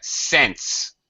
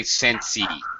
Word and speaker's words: sense: First of all, Anna Carolina, sense. Don't say sensey. Just sense.